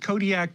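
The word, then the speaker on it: Kodiaq: well not completely artificial this car was named kodiak with a queue at the end but pretty much in rhyme with the alaskan isle and fishing city of kodiak with a k to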